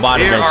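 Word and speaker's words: Bonaventure: Oh, Bontventure, that's how you pronounce it.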